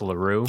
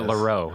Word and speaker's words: LaRue: You had Florence LaRue. Oh, yeah. Or is it LaRue? It's LaRue, isn't it?